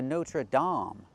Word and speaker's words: Notre Dame: It's the Notre Dame. We need the ah sound. Like hot and stop. Dame.